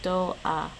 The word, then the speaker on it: ドア: No, it's actually pronounced more like doa.